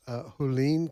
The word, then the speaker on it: Hualien: The center of this was in the mountainous Hualien County, and if I'm saying that wrong, I do apologize.